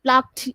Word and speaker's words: plucked: Yeah, so for example it can be fished, it can be plucked ed না, কিন্তু আমরা উচ্চারণ করি কি plucked, plucked, ed না উচ্চারণ, plucked, ট, plucked.